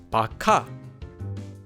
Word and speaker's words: 박하: For another example, take the word 박하, which means peppermint. The first syllable ends in the base consonant, kiok, and is followed by a hyut, so it becomes a kiok. This becomes pronounced as bakha.